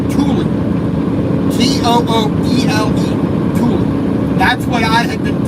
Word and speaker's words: Tooele: Now, I was making the mistake because I heard it wrong and I was going to pronounce it wrong. I thought it was called Tooele. T-O-O-E-L-E. Tooele.